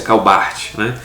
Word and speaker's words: Karl Barth: teólogo, o papa teológico, Karl Barth, só a pronúncia, Karl Barth, E vídeos gravados sobre Rodolfo Bultmann, Paul Tillich, sobre Dietrich Bonhoeffer e grandes nomes que tem dentro da teologia contemporânea.